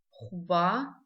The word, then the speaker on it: хуба: Звук х. Пишем его как х, в.